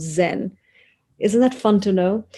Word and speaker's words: Zen: to japan through china the chinese chan becomes japanese zhan which eventually becomes zen isn't that fun to